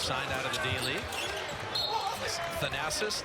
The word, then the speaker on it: Thanasis: out of the daily thanasis like jackie onassis and antenna kumpo doesn't